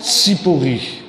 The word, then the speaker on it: Tsipori: Et tu as prononcé le nom d'une ville importante à côté de Nazareth. Tsipori.